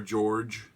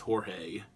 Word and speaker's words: Jorg: that follows George or George like if pronounced Jo a spell Jo RG but the officer I said that you know it's meant to be pronounced like George but he won the